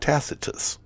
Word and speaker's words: Tacitus: have a problem with yeah how would you pronounce it well I I would call it tacitus but it's that's correct but there's a word